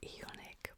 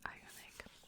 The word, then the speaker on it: iUNIK: you say it so I thought it would be like iic but it's it's I unic and this is an